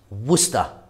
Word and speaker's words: Worcester: then here i've got some worcester sauce it's pronounced worcester there's about two tablespoons there some people don't